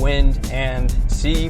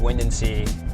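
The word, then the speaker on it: Windansea: windency in la jolla it's pronounced wind and sea but it's all one word wind and sea so this beach is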